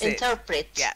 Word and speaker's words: interpret: interpret I'll interpret bass interpret that's it so the stress is slightly different it's on the second syllable in turn and then Pritt interpret okay oh yeah baby